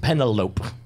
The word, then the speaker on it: Penne: like looking at your Penne. People call me Pen for short. Yeah. I'm actually Penne, P-E-N-N-E. It's actually pronounced Penelope.